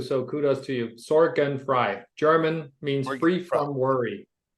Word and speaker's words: Sorgenfrei: and never worry about your maintenance again Peter Soren Fry on the roer flex podcast hello Peter how